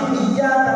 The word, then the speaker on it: iyyaka: Kalau pakai tasdid iyyaka na'budu wa iyyaka nasta'in, hanya kepada Engkau ya Allah kami mohon pertolongan, dan hanya kepada Engkau ya Allah kami menyembah. Tapi kalau kita baca iyyaka na'budu wa iyyaka nasta'in,